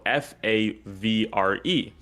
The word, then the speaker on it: Favre: And he was like, "The the famous quarterback that is um his name spelled f a v r e.